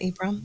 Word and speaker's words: Ibram: X kendi is that how you say it ibram yeah ibr yeah yeah he also wrote a